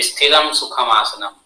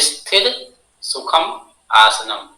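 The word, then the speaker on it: स्थिरसुखमासनम्: भी आसन करता है कहता है स्थिरम सुखम आसनम लेकिन ऐसा नहीं है क्या है स्थिर सुखम आसनम यहां पे हमम की मात्रा नहीं है ओके तो इसको सही से प्रोनाउंस कीजिएगा स्थिर सुखम आसनम ठीक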